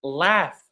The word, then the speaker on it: laugh: Like laugh for example. So laugh it ends with gh but we do pronounce it f.